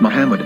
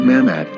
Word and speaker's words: מחמד: vowels, it can be read as Muhammad, which is the name of the Muslim prophet, or as Mamad with no A after the H. According to Ben Yehuda's Hebrew English Dictionary, it is correctly pronounced as Muhammad, not Mamad.